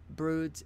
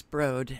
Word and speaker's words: Broad: served on the board of directors of the Broods education division and I'm going to put you on hold because I want to find out the exact pronunciation of that hang on okay it's Broad and I apologize yeah Arie Duncan board of